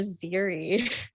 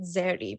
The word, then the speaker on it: Zeri: like mention her name i made sure i'm gonna say it zeri because this is how a filipino would say her name but yeah i have